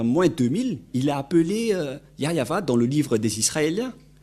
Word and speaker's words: Yahvah: par exemple vous êtes pêcheur si vous ne prononcez pas yayava vous êtes directement un pêcheur si vous dites